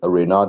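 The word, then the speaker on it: Renard: And to put like a bit more context into that game, like I think Reynard, that's how you pronounce the coach's name.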